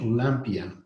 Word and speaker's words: Olympia: with his olympia or yes pronounced in french olympia given the spectacular scrupulously